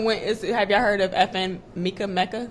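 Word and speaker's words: FN Meka: Have y'all heard of FN Mecca? I think it's pronounced Mecca.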